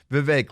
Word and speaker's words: Vivek: say bake a cake so it's pronounced Vivek like bake a cake uh and uh that's